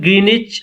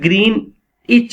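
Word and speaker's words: Greenwich: तो समरी के अंदर Johnsy, young artist from California, lives with her friend Sue इन ग्रीनिच। ये word ग्रीन इच इसकी pronunciation है, डब्ल्यू प्रोनाउंस नहीं होता।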